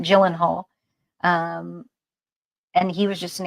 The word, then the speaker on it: Gyllenhaal: I say Gyllenhaal. That's not how you say his name. Gyllenhaal.